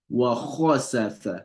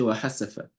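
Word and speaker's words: وخسف: and that's a challenge, a lot of people could not get kha pronounced, they will say wa hasafa. Kha is a letter that's pronounced heavily. It's not ha, it's not wa hasafa. It will be wa khasafa.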